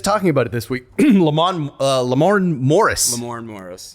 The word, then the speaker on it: Lamorne: Lamorne? You can read. You know It's how got, to say but it. it's got an R at Lamorne.